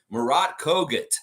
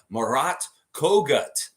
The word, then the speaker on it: Murat Kogut: Murat Kogut. I gotta say his name right. They have the pronunciation in there now, and I've heard Zach